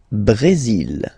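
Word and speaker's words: Brésil: L Brazil. L Brazil. Okay, you will pronounce the final L here.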